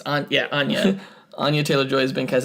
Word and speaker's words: Anya: I think we said like Anya. It's Anya.